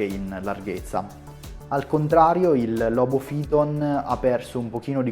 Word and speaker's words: Lobophyton: sono stato sgridato perché avrei dovuto pronunciare il nome di questi due coralli alla latina quindi la pronuncia corretta sarebbe sarkozy ton e logo fillon in ogni caso ho